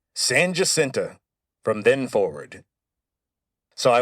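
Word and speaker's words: San Jacinto: might look at the name and think it's San Hasinto, but you'd be wrong. As soon as the Texians won the battle of San Hasinto, Sam Houston declared that it would be pronounced Sanenta from then forward.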